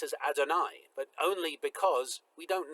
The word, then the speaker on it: Adonai: as the Eternal um we nonetheless pronounce God's name that name as Adonai out of tradition for the last 2,000 years but it's interesting that